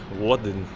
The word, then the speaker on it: Woden: I była to ksywka, którą przyjął sobie Bóg Odyn, przez anglosasów wymawiany Wodyn, jak się nie mylę, z literką W na początku. Tak jak wooden, trochę jak drewniany.